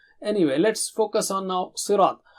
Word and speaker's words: صِرَاط: When you join that word with the next one, you don't say ihdina sirat, you say ihdina sirat. Anyway, let's focus on now sirat. Sa is very thick and high, you remember that, very thick and high, and ra is thick.